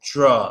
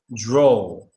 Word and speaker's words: draw: you mean a draw it's not an o sound at all it's a a sound like with law paw um Santa Claus you know um claws I might Jaws okay it's a it's the usual Au aw sound no that would be more